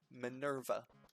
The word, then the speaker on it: Minerva: Minerva.